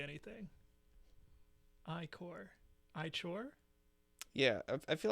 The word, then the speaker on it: ichor: That's how you pronounce the word, Ichor.